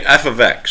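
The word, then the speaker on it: f(x): 5 or F of three so we say F ofx that's how we say function notation f of x okay that's how that is pronounced F ofx so the independent variable is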